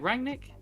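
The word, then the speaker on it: Rangnick: on durang nick is am i saying it right rang nick yes yeah um yeah his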